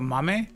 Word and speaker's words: MAME: You know, you said it right the first time. What? Mame. I'm surprised. Like, etame. Um, aim with an M in the beginning.